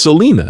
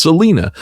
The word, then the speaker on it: Selena: She's like, "It's Selena. It's Selena. You can tell that people have been mispronouncing her name at her for the entire time of her her life in the public spotlight.